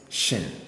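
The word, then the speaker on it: שׁ: see the dot there the next one is shin you see the dot here and is s like this sh sh so sh when you see the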